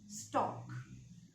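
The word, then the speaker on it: stock: And the portion of the stem onto which this scion is attached is known as stalk. S-T-O-C-K. And it is pronounced as stalk.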